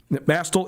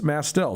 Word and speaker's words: Mastel: So I've been called Nuanez my whole life, and it's not Nuanez, it's Nuanez. Just like it's not Mastel, it's Mastel.